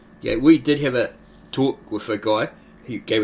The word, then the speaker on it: Ptah: Yeah, it's like you have in Egyptian the word P-T-A-H. You don't say Ptah. Yeah, the P is silent, you're just saying Ta.